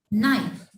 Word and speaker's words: knife: I tell you that when K comes before N, so K will be silent. Knife.